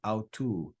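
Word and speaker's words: αὐτοῦ: Alpha and upsilon are a diphthong, so they're read as one vowel sound.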